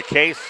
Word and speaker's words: Kees: But no, it's Case. So like a case of soda.